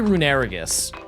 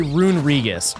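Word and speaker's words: Runerigus: I say runaggus. A lot of people say rungus. Both are wrong. I believe it's rungus. like you emphasize there's like just an unnecessary syllable rungus.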